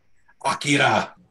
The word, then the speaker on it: Akira: Your Number Four Akira nice I see that Akira to pronounce it correctly I feel like it's difficult